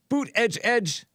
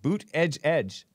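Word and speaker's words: Buttigieg: country won't elect Pete boot edge edge I don't know how he pronounces the name but that's how our Trump pronounces it and that's how it's said to pronounce it boot edge edge because he's been kissing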